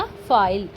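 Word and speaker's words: file: तो नेक्स्ट है हमारा शब्द के अंत में आने वाले इ का उच्चारण नहीं होता।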